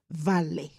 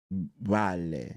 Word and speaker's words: vale: You can say vale. Vale. Yes, vale, not val. Vale. So it's Spanish. So the V will be pronounced V. So vale.